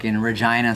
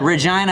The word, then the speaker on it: Regina: it's spelled like regina but it's pronounced vagina and i remember the